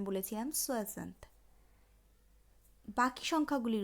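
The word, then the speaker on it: soixante: আগের দিনে আমি 60-এর উচ্চারণ বলেছিলাম সোয়াজান্ত।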